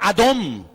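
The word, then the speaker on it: אדון: decimos señor estamos pronunciando la palabra adom dice no es adonay no adonay es mi señor adón es señor y la palabra adón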